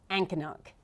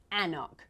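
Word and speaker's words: anCnoc: So, Ancannock is not quite right. It's very close. Ancannock is actually Annock, which seems weird, because why is there an extra C in there? But there you go.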